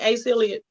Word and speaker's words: Asa Hilliard: Asa Hilliard. Asa, A-S-A, Hilliard, just like it sounds.